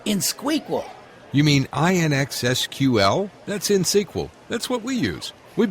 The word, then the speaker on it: InSQL: Harry, it's InSQL, INXSQL. You don't pronounce the X.